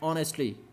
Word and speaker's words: honestly: You will have to pronounce that word as honestly. The sound of O starts from the beginning.